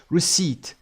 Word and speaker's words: receipt: پی تلفظ نمیشه. پ نداریم دیگه تو این تلفظ. receipt. صدای ا کوتاه‌تر، اینجا ای کشیده تر، استرس هم روی س.